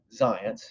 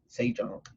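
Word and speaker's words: Zajonc: in some work by science his name is spelled in a way that doesn't seem like it should be pronounced in science it's as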